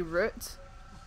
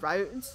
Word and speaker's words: route: I fall do you I find it weird that ETO says route I mean I'm not Italian I don't know what Italian people have Italian people pronounce route but it just it sounds it sounds wrong to me like we say root not routes it just sounds really weird to me got to